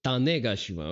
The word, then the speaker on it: Tanegashima: Oh, okay, it's a Tanegashima. Okay, so that is a Japanese flintlock, I see. It's a catch-all terms for all Japanese. You're missing a syllable there. It's Tane. Tane. Gashima.